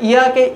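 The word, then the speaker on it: یک: এই জন্য যখন আমরা লিখব এটা দেখ এটাকে বলা হয় ইয়েক, ইয়েক মানে এক, এটার উচ্চারণটা আমরা করছি ইয়েক, যেটি বাংলায় হয় এভাবে ইয়েক।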